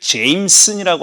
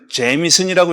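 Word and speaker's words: Jameson: 본토 사람한테 그 보니까 그렇게 읽기는 거 아니라는 거예요. 제미슨이라고 읽어야 되는데요. 자기가 그렇게 뭐 고유 명사가 내가 불러 달라는 대로 불러야 되는 거잖아요. 제 J Mes jes s이에요. 그니까 제슨이에요.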